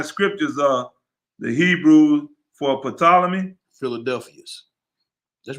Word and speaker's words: Ptolemy: sacred and divine scriptures of the hebrew for ptolemy philadelphus that's right you said it right ptolemy